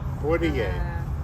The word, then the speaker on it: Poitier: Poitier. Poitier.